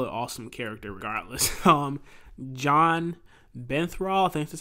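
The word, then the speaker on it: Jon Bernthal: he was still an awesome character regardless um john benthrall this is how you say his name he's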